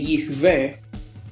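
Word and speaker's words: יהוה: respetar la gramática hebrea, entiendo que Yihve es la pronunciación que menos especulación requeriría hacerla.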